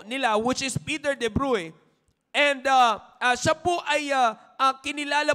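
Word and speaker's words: Bruys: ay si Peter DU bru All right Medyo Alam niyo naman ang spelling po nito ay kung titingnan po natin Peter DU Bruce Pero iba po ang kanilang ah pronunciation so ito po si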